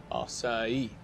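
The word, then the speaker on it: açaí: It is pronounced acai.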